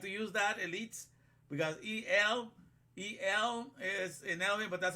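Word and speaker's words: אל: but you pronounce it E-L, as Elohim in English, but it's written A-L.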